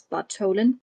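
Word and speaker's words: Bartholin: yes um Thomas Bolan he's he's written with a th but they don't have th in Danish so I'm going to pronounce this Bolen he did an autopsy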